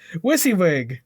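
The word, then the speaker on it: WYSIWYG: Wissawig. Wissywig. That's the one.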